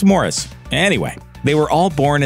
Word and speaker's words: Maurice: children Barry Robin and Morris Gibb yeah that third brother the one whose name looks like Maurice it's actually pronounced Morris anyway they were all